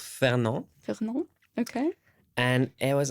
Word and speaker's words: Fernand: Fernand.